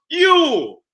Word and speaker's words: Yule: It's spelled many times J-U-L. Yule. But it's still pronounced Yule.